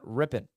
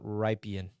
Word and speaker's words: Rypien: thank you and FYI it's pronounced Brett rippen well your boy's been saying it wrong this whole show thank you Jacob for telling me it's ripping not riping uh thank you Jacob